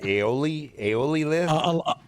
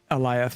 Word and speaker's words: Alioth: Aeoli list? Alioth, yeah.